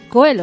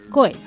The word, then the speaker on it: Coelho: Prada para apuntarnos que no se dice Coelho. O sea, Pablo Coelho a partir de ahora ya no. Es nunca Coelho. Más. Es Pablo Coelho.